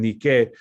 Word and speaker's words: Nike: Que ellos lo pronuncian Nike, y puedes ver el swoosh, la marca, el logotipo que tienen en la mano de ella, ¿no?